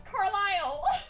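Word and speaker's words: Carlisle: I le e it's it's French though so it's carile yeah you don't pronounce the S why do you not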